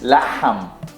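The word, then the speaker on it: لحم: So beef is laham, Laham. laham. Laham. The ha, laham, Laham.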